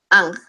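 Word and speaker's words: ankh: vamos a poner el anc esto es muy rápido el anc que en realidad no se escribe a n h sino a n j ang se dice que es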